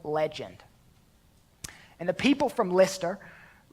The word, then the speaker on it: Lystra: and the people from Lyster Lystra or Lystra depending if you're from the north you pronounce that lie struck that's probably correct I'm a redneck so I'll pronounce at Lystra but leister we call